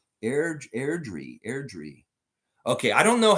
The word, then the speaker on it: Airdrie: Jillian saying, Lex, respectfully, it's actually Airdrie near the mountains. Airdrie.